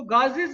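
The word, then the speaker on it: Gauss: इसको गाजिस भी पढ़ते हैं बाज बच्चे, तो गाजिस गाज दोनों तरह से प्रोनाउंस होता है, मैं गाज ही पढ़ूंगा इसको।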